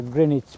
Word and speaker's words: Greenwich: of us like new people will say that Greenwich Park but it's not it's the correct pronunciation is the Greenwich Park right Not Greenwich.